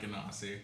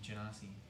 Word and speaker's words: Genasi: I play Monolith, the Earth Genasi rogue, and... Is it really not Ganassi? Yeah, it's like Genie, Genasi. Genie.